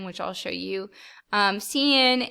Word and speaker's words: cin: i'll show you um cnn it's pronounced uh cn exactly so uh you can